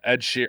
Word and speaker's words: Ed Sheeran: You said it wrong before the episode started. Everyone corrected you and then you got it wrong again. It's fine. Ed Sheeran.